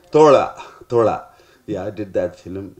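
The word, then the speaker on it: Thozha: The pronunciation? Thola.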